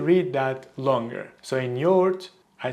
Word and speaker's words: yoğurt: Maybe you said yogurt. But in Turkish, we pronounce it as yoğurt. Yoğurt. Now the tricky part with this word is the soft G in the middle. It basically makes the previous vowel longer.